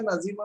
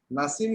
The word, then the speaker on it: नसीम: तो ये नसीम है, नजीम नहीं है, NAZIM नजीम होगा, है ना?